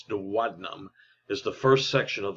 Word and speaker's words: duodenum: lesser curvature the duodenum and that's how that's pronounced is not duodenum it's duodenum is the first section of the small intestine